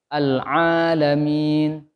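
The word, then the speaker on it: العالمين: Jadi pakainya Al-Alamin. Pakai ain, Bu, ya. Pak, pakai ain. Dan ainnya jangan masuk ke hidung. Al-Alamin.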